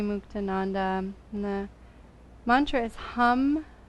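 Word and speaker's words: ham: the breath comes in repeat the sound hum h-a-m simple and clear and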